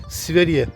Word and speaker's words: Sverige: Buradaki telaffuzuyla Sverige.